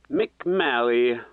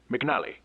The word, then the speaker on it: McNally: I may have originally mispronounced name. How'd you say it? McMalley. What bourgeois, truly. My name is not that difficult. McNally.